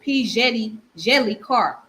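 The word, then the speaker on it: P. Djèlí Clark: So the author name is P. Jelly Clark. So the D is silent. So it's pronounced as Jelly.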